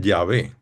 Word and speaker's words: Yahvé: Pues yo soy es como el nombre que Dios se pone a sí mismo, que en hebreo se dice Yahvé.